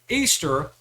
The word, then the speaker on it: Ishtar: But at its roots, Easter, which is how you pronounce Ishtar, is all about celebrating fertility and sex.